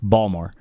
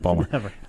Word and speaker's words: Baltimore: seventh inning Kansas City leads Baltimore balmore if you ever been there that's how they say it balore 2 to one uh